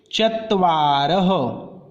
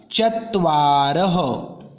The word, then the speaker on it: चत्वारः: चत्वारः। ये जो दो डॉट हमें दिख रहे हैं इसको संस्कृत में विसर्ग बोलते हैं, तो इसका उच्चारण होगा चत्वारः।